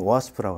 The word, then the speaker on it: OWASP: 오늘은 그 OWASP라고 일반적으로 웹 애플리케이션 보안 커뮤니티인데 정식 발음은 OWASP라고 합니다. OWASP의 한국 대표로 그 애플리케이션 보안에 대해서 발표하게 되었습니다.